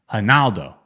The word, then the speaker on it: Ronaldo: That's not how they say it in Brazil. It's how they say it. Ronaldo. Ronaldo. We say Ronaldo. There's an R in front of it, Peter. They say their R's like H's. Ronaldo? That's how you say it? Yeah, for example, Ronaldinho is Ronaldinho. Their R's, yeah, exactly. Their R's sound like H's, their D's sound like G's.